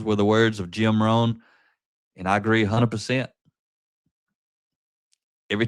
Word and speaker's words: Rohn: So I'm going to wrap up today's episode with a quote from Jim Rohn. That's R-O-H-N. As my wife says, I don't enunciate well, so I'll spell that one for you so you know what I'm saying.